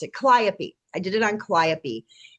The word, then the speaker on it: Calliope: I always want to call her Calliope, but I know that's not how you pronounce it. Calliope.